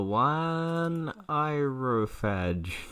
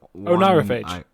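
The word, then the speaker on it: Oneirophage: The one irophage. That's definitely not how you say that word.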